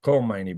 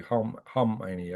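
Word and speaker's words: Khamenei: most condescending was Hani I used to call them Kmani but it's actually Hmani I guess I'm hearing that pronunciation from an Iranian YouTuber uh so Hani it's got a K in the front I guess it's silent in this case unlike Clomani.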